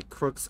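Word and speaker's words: Crux: can just go look oh the babysitter by Crooks game studios because there's multiple ways of the games and Crooks is spelled c-r-u-x see under u x ohm said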